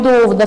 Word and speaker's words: dúvida: Então, aqui o que diferencia na grafia é o acento e a pronúncia também. Aqui é duvida e aqui é dúvida, não é mesmo?